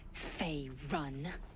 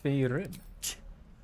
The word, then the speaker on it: Faerun: Fey run. Yes, Faerun.